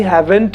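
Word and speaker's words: haven't: ऐसे ही हैवेंट में हम टी साइलेंट रखेंगे, तो सिर्फ हैवन तक पढ़ेंगे बस।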